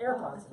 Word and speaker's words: AirPods: Now those are called the earpods. Now another one. Yeah, AirPods. AirPods. Not earpods. AirPods. I said it wrong.